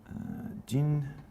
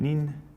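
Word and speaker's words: 人: So the onyomi reading is Jin, and Nin, Jin and Nin, and then the kunyomi reading is Hito, Ri, and To. Sweet.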